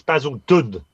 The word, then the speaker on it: Basildon: Well, it hasn't got a T in it, mate. It's Basildun, not Basilton.